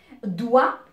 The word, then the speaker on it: doigt: Et les doigts des pieds, on les appelle des orteils. Alors, doigt, je vais lui ajouter GT. Là aussi, GT, il ne se prononce pas. Ce sont des lettres finales muettes.